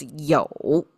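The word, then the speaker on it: 酒: Um this one pronounced as "jiu".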